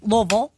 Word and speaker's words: Louisville: there and then I went to Louisville and Louisville I'm glad you pronounce that correct I do I respect the